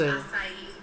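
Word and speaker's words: açaí: The but it's pronounced acai. acai. Acai. Acai. It's Uh, Portuguese.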